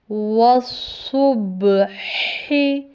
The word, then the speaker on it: وَالصُّبْحِ: بہت خیال کرنا ہے، کیونکہ اس لفظ کے اندر صاد کے تلفظ کو بھی دھیان کرنا ہے کہ وہ سین سے نہ ملے، اور ح کے تلفظ کا بھی خیال کرنا ہے کہ یہ ہا سے نہیں ملے، یعنی گول ہا سے۔ با پہ جزم ہے،